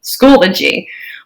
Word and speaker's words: Schoology: how to pronounce schoology it is three syllables school o g schoology more seriously though um